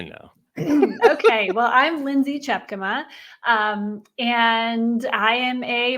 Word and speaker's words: Tjepkema: I've done such things before it's it is chapk see you practiced all that time and then you weren't even gonna do it yeah I know okay well I'm Lindsay chapk um and I am a marketer you you